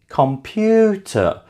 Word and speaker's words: computer: Computer is stressed on the second syllable.